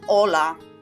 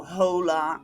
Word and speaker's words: hola: that's a silent letter Spanish basically has H as seen in the first example on the green board hola hola there's no hola or anything like that the age is just not there so silent letters are